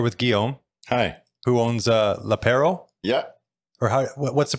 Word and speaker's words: L'Apéro: Who owns L'Apéro? Yeah. Or what's the pronunciation? L'Apéro.